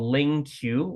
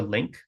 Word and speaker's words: LingQ: By the way, this app that I'm using here, in case you don't know it, it is called LingQ or Link, depending on how you pronounce it, in the top left corner.